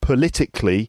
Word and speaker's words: politically: and then the adverb politically for example politically correct politically the stress is on the second syllable so politics politician political